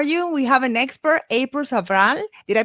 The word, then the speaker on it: April Sabral: We have an expert, April Sabral. Did I pronounce it right? April You Sabral? did. Yeah, I like the way you did it, April Sabral. April Sabral.